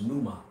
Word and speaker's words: pneuma: where that word spirit and the greek is pronounced pneuma you know what i'm saying when you go